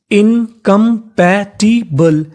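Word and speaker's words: incompatible: आई बी एल ई बी एल ई को हम लोग इंग्लिश में पढ़ते हैं बल यानी आपको कहीं पर बी एल लिखा मिले तो उसका उच्चारण करना होता है बल तो पूरी मीनिंग इनकंपैटबल इनकंपैटिबल इनकंपैटिबल इनकंपैटिबल का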